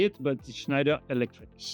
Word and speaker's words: Schneider: Schneider or Schneider.